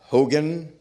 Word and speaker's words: Hugin: Ellos se llaman Hugin y Munin, así se pronuncian más o menos, y significan algo.